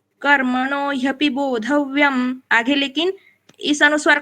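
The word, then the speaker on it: बोधव्यम्: आगे आप देखिए ग है, फिर भी बोधव्यम, इस अनुस्वार का उच्चारण मैंने म क्यों किया? क्योंकि 8th लेटर है, यहाँ पे रुक रहे हम, इसलिए आगे कुछ भी हो यहाँ पे अनुस्वार का उच्चारण म जैसे होगा।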